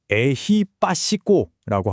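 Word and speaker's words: ehipassiko: 발음은 에히빠시꼬라고 하고요.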